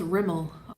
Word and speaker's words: Rimmel: babe in here he's probably busy working it's pronounced Rimmel working which means he's with the first wife